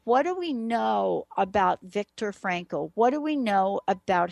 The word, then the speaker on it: Viktor Frankl: and understanding it from reading the work of Victor Franco uh one of you just uh pinged me I'll spell it it's not what you think but if